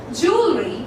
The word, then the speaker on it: jewelry: A or E sound, it actually involves that O sound. So the pronunciation of this particular word, okay, goes as jewelry or jewelry, okay, jewelry or jewelry, and not as jewelry or whatever you pronounce it, okay, it goes in the way jewelry.